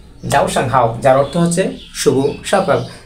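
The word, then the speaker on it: 早上好: হচ্ছে যাও এইযে উপরে এর উপরে কার্টুন তাহলে উচ্চারণ হবে যাও সাং হাও যাও সাং হাও যার অর্থ হচ্ছে শুভ সকাল তারপর হচ্ছে গুড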